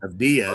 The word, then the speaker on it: Avdija: Avdija? Yeah. Under 1.5. Jabari Smith under 2.5 threes. Sam Hauser over 2.5 threes. Julian Champagne. Avdia is actually how you pronounce it.